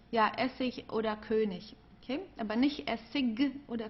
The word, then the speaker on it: König: Also hier haben wir ik, Essig, König. Okay? Also hier am Ende, das wird eher wie ein K ausgesprochen oder manchmal wie ein H, also wie du möchtest. Essig, ja, Essig oder König.